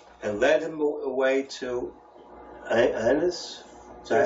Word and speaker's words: Annas: And led him away to Annas? Is that how you pronounce it?